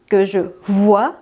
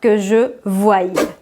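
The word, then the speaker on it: que je voie: subjonctif voici un exemple le verbe voir je vois que je vois en prononce bien que je vois et non pas que je voyais comme on l'a vu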